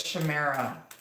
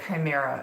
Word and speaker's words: chimera: so why is the stator here with this Chimaira for the Chimera I'm sorry chimera it's pronounced rough foolery and indulgence imagination clouds are